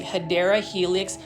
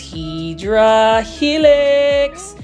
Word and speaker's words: Hedera helix: or what you call, the correct way to say it is actually Hedera helix or English ivy.